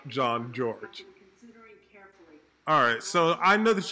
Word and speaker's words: Jean-Georges: jean-georges alright guys so it was this very moment that I learned that I've been saying his name wrong it's actually chef John George alright so I know